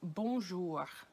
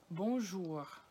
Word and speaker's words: bonjour: you all know, but bonjour, bonjour, bonjour. And you can say it bonjour or bonjour.